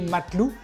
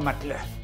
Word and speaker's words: Matlouh: Bonjour, je vais vous présenter aujourd'hui la recette de ce très beau pain qui s'écrit matelou mais qui se dit je crois mateleu.